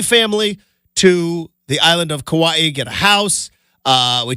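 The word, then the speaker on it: Kauai: to the island of kawaii which I learned it is Kawaii is how you say it not Kawai um and it is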